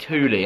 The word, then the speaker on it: Thule: Yesterday, I got to go up to Thule. They said Thule, I'm sure. I asked the guy.